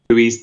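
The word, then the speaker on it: Luis: i took out jotter and brought in louise louise diaz that's how you say his name i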